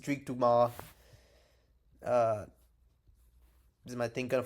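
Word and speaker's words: Dumas: Sadrius Dumis, that's not how you say his name. It's Duma.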